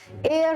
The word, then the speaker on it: heir: एक तो you sounding words, European same category में आता है, और words with begin with H जिनमें एच साइलेंट है, जैसे ऑनरेबल, ऑनेस्ट, आर हो गया, एयर होता है HEIR।